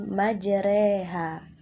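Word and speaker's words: مجراها: khusus pada ayat ini kata Mayor oha dibaca menjadi majreha Nah anak-anak demikian penjelasan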